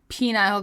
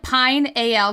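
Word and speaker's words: pineal: to Ayahuasca oh okay penile gland well it's spelled like Pine Al gland yeah how do you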